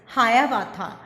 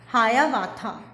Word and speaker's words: Hiawatha: How to pronounce this? Hayavatha, Hayavatha, Hayavatha.